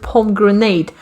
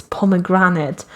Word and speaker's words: pomegranate: over 120 hours and i was calling that fruit palm grenade and nobody nobody but an eye nobody told me it's pomegranate what the [ __